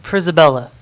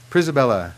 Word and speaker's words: Prella: pronounce your last name it's pronounced prella prella yes thank you like Isabella and also my first